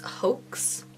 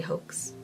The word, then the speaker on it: Hoax: It reminds me a little bit of MAC's Hoax, or Ho, if you want to say it like that. I say Hoax.